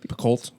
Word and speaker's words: Picoult: She's currently reading a book by Jodi Picoult, which I think is how you pronounce her last name. Picoult.